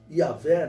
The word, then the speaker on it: Yahvé: Significa que no hebraico está o nome de Deus, o tetragrama sagrado, que se pronuncia Yahvé, né?